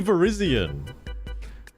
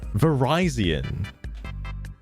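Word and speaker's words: Virizion: I say Verizian. Ver. What did he What did he say? Verizon. Verizonian like Verizon internet.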